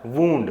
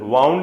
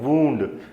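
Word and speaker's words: wound: इसका प्रोनाउंसिएशन क्या होता है, वुंड, वाउंड नहीं बोलते इसको हम, क्या बोलते हैं, वुंड।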